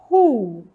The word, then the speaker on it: who: Se eu fosse escrever, eu escreveria um R e um U aqui do lado, né?